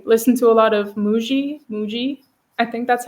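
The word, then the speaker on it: Mooji: you on Instagram later I think it's mou oji that's how his name is pronounced but he's yes he's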